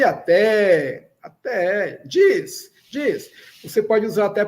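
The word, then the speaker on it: ĝis: G chapéu pronúncia DJ. Diz.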